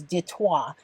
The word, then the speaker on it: Detroit: just referred to as Detroit Michigan Detroit was named by the French and the real pronunciation is detour and it means straight